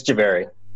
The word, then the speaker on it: Jhaveri: It's Jhaveri.